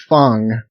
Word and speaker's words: Fang: And it's um Okay, so it's spelled F A N G, but I think it's pronounced like Fong, not Fang.